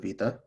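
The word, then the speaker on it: ⲃⲓⲇⲁ: letter so this letter the old name is wada now we call it vita so vita has two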